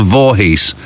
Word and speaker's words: Voorhees: sorry this is it actually it is spelled and pronounced as it is spelled voorhees disappointing but they know